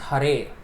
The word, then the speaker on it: Hare: he steals our attention which in the vocative case is pronounced hare in the vocative case